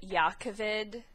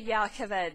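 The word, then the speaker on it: Jah Keved: places a less car I've been saying it jakaved but after hearing other people's memes I realized that yakovid yakovid makes a lot more sense given how gazna's name is pronounced canonically um so I'm gonna try and switch to yakaved but I usually say it with a J sound as opposed to the Y car brands shinovar and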